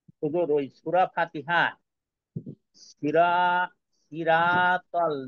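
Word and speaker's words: صراط: ওইখানে হ্যাঁ, এখানে যেহেতু সদ আছে, তো সদ থাকলে কি হবে? সই হবে। ইহদিনা সৈরাতল, সই, সৈরাতল। সিরা না সির?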